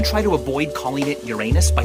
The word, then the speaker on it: Uranus: Even if you try to avoid calling it Uranus by pronouncing it Uranus, you still have to say urine, and everyone knows you mean your anus.